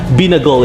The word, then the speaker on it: binagol: Binagol is pronounced with a longer stress on the A.